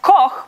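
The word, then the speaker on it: Koch: My last name is K O C H. It's meant to be pronounced coke, but if you're living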